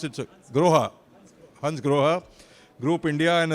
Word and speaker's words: Grohe: Gaurav Malhotra, the Managing Director of Hans Grohe, how do you pronounce it? Groha.